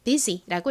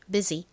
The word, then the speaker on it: busy: 그래서이 단어 busy라고 읽어 주시면 됩니다. busy. Busy의 의미는 바쁜이죠. 자, 그리고이 단어 발음과 의미 떠올려 보세요. 끝에 sy는 역시 z 소리 나고요.